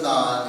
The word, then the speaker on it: Non: few, might know that pronunciation of non is basically no special thing. It's just the name of the owner of the company. Non just stands for Patrick Shin's Korean name, Non.